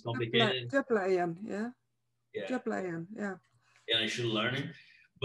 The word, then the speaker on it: Djöflaeyjan: Djöflaeyjan, yeah.